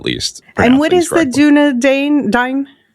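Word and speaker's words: Dúnedain: for us, starting with the community volunteers, the Dunedain? Yes, the Dunedain.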